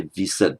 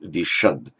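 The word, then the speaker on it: viṣad: an a, it frequently changes to a sh. So you didn't say visad, but vishad. It's the same word.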